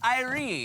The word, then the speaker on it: irie: all right is pronounced irie in Jamaica.